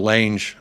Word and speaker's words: Lange: man Johan l l what I'm saying Lane just so it rhymes with a but I don't know